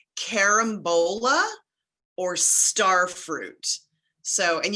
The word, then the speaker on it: carambola: These are called carambola or star fruit.